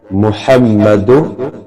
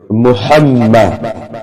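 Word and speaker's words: محمد: মুহাম্মা হাটি হলকের মজখান থেকে খুব সুন্দরভাবে উচ্চারণ করে মুহাম্মাদ অনেকে মুহাম্মা পড়ে মুহাম্মাদ শব্দটি হবে মুহাম্মাদ রাসুলুল্লাহ অনেকেই রাসুলুল্লাহ পড়ে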